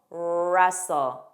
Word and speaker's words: wrestle: Wreck, wrinkle, wrestle. The beginning WR spelling has a silent W pronunciation. So make sure you begin on that R sound.